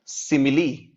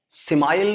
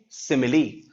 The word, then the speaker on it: simile: सिमिली, पहले देखो ध्यान से, इसे क्या पढ़ते हैं? सिमिली। थोड़ा प्रोनाउंसिएशन अलग है, सिमाइल नहीं, सिमिली। सिमिली इज a figure of speech in विच, एकदम बेटा बच्चों कंसंट्रेट करके इस बात को सुनना।